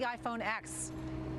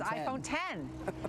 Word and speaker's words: iPhone X: the way, I learned it's not the iPhone X. You can't call it the iPhone X. It's iPhone 10. Yeah, but they spell it with the Roman numeral.